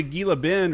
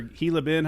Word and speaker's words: Gila Bend: You know, we'd go out to Gila Bend or Hila Bend, however you want to pronounce it.